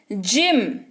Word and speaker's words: gym: जिम, GYM, जिम, जी के बाद वाई उच्चारण ज, हो गया जिम।